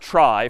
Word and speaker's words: trie: a fancier tree and it's short for retrieval but pronounced try for weird historical reasons but a TR is